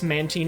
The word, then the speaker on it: Mantine: Uh you can find a Mantene. Uh yes, Mantine is how it's supposed to be pronounced.